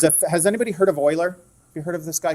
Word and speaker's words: Euler: name was Leonard Euler it looks like it would be Euler but it's Euler is how you pronounce that the letter e so